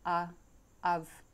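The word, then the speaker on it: Adhamh: which could read Adhama, and pronounced A of, the letter D being silent and the letters MH being sounded as V.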